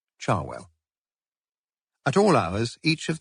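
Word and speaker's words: Cherwell: Banbury Road and the river Charwell, pronounced by most of the locals, Charwell.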